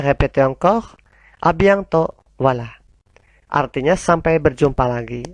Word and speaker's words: à bientôt: Kemudian di bawahnya, nah, itu ada T-nya, awas, T-nya hilang ya, tidak dibaca. Bukan abientot, tapi abiento. Allez, répétez encore. A bientôt.